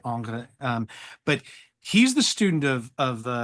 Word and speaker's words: Ingres: It's Ong. Yeah. The Ingres. I don't know. There are a lot of ways to pronounce it. Yeah. I just say Angre.